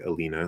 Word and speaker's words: Elena: you can reduce it to oh you say alina that's fine um probably not because it's spelled with an e maybe i guess it